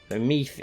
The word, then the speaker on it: Meath: So Meath is very strong, or it's pronounced meth, I think, isn't it?